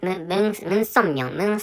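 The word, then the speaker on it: Moon Sun-myung: So anyway, maybe and the founder of this religion is Moon Somyong, which is the name of the founder of this religion. And reading, of course, what I spoke out is a Korean pronunciation.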